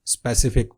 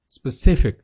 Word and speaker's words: specific: गलत पढ़ा जाता है और इसको पढ़ते हैं स्पेसिफिक. ये गलत प्रोनाउंसिएशन है, इसका दुरुस्त तलफ़ुज़ है specific.